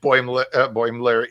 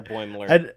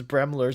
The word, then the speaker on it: Boimler: I think that's one of the things that Freeman calls him actually is Bremler.